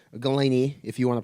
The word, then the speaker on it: Golini: Golini, if you want to pronounce it, Golini.